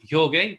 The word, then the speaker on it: Jorge: So just so you know, my name in Spanish is pronounced Jorge, but I can go by George.